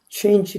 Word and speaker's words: change: 우리가 하면 성대가 최, 인, 지 빨리도 change 날라가도 change 해도 3번 떨려요. 삼음절이라고 합니다. 근데 미국 사람은 그것을 이름절로 발음해요.